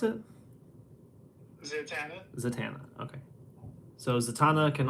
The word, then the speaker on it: Zatanna: How do you pronounce it? Zatanna.